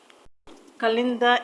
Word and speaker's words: calendar: stress it option D calendar Kalinda is a name of something you know what a calendar is so the stress will go to the first level so this is the